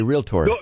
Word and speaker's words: realtor: Let's pronounce it properly. Yes, it's a realtor.